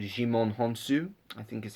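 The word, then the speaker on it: Djimon Hounsou: It's very well done, and I will say, I think you pronounce Jimon Honsu.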